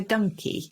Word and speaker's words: donkey: the same family and originally a donkey would have been pronounced like monkey so it was a donkey which means that some